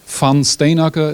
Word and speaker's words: Van Steenacker: As said, my name is a Dutch name. Van Steenacker is the pronunciation in Dutch.